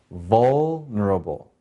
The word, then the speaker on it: vulnerable: So in this word, vul has the accent, the first syllable. So how do we say this word? Vulnerable.